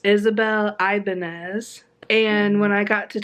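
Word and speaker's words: Isabel Ibañez: book was Isabel so I actually said her name wrong earlier she said it it's Isabel Ibanez and when I got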